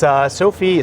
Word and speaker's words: SOAFEE: It's SOAFEE, Service-Oriented Architecture for Embedded Edge.